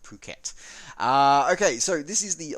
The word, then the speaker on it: Phuket: of Phuket International Airport's I know a lot of you will pronounce that differently but trust me it is pronounced Phuket okay so this is